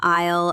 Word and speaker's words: aisle: And the biggest trick here is that the letter S is completely silent. I always tell people to imagine they are walking down the aisle of a plane or